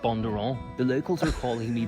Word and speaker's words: Bundoran: Yeah, that's how it's pronounced. You say Bundoran, but yeah, we pronounce it Bondurant.